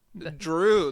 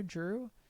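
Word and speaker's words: Jrue: Drew, the name. It's spelled J-R-U-E, right?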